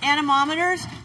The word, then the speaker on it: anemometer: They are all working on anemometers, which are small... Anemometers. You can actually say that word pretty easily if you put the syllables on your fingers.